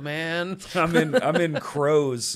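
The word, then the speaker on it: Kroze: we do it so k-r-o-z-e crows it's like pros but crows yeah that's also not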